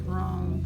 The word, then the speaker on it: wrong: That word is wrong, Tristan. W-R-O-N-G. O-N-G, It says it doesn't have W. The W is silent.